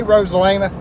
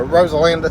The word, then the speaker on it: Rosalinda: Gatlinburg bypass all right hey Rosalina a Rosalinda sorry I had mispronounced there I see where you